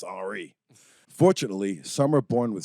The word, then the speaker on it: Henri: It's Henry with an I, so I assume it is Henri.